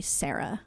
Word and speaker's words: Sara: So like the way that somebody with a New Jersey accent would say my name is with a soft A.